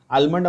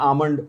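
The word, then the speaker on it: almond: आलमंड अपन बोलते हैं, आमंड उसका प्रोनाउंसिएशन होना चाहिए।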